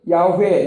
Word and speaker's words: 야: 그래서 우리가 예전에는 우리가 여호와라고 많이 불렀는데 히브리인들이 부를 때는 야로 불러요.